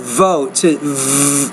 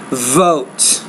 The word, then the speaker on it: vote: ads effective ways and when you pronounce the the word vote don't forget to vibrate your lips here with your teeth vote facts of advertising its